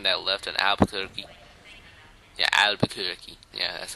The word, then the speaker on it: Albuquerque: should I taken that left on albuquer yeah Albuquerque yeah that's how it's pronounced toy I love glados's Fe feeble attempts